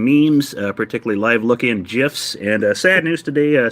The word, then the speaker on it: GIF: rob first of all the g stands for graphic people that's a hard g so it is gif all right it's not